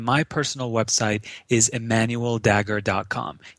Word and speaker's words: Dagher: personal website is Emmanuel dagger. comom e m n l d a g h e r the H is silent yes yes and only